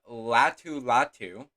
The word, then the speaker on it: Latu: But Latu, that's how you pronounce his name, is still there.